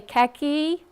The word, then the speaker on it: khaki: Okay, khaki. You don't hear khaki. Yeah. You don't hear that H.